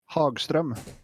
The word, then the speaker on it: Hagström: Fred, Yes, how do you pronounce the Hagstrom? Hagström.